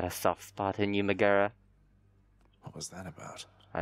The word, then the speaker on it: Megara: We each have our commitments to this house, Megara. Megara. No okay, that's how it's pronounced.